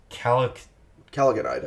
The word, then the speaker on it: chalcogenide: It's chalcogenide, I think.